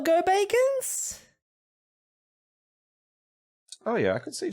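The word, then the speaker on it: Gobakhan: It's pronounced Go-Bacon.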